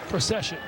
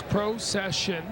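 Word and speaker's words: Procyshen: is it makes sense Pro session it does oh the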